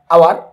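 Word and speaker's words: hour: যদি আমরা একটু খেয়াল করে দেখি তাহলে ঘন্টার ইংলিশ হচ্ছে আওয়ার, আর আওয়ারের উচ্চারণটা এখানে কার মতো? এর মতো আসতেছে।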